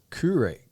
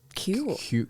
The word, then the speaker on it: Kure: Well, once you're done with Carolina Beach, one of its neighbouring beaches, Curry. I know I'm going to say this wrong. Curry Beach. Curry Beach. Like it's spelled another, Kure. We would say cure.